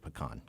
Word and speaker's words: pecan: Thanksgiving dessert is generally going to be a pecan pie. Ooh, and that's how you pronounce it, pecan.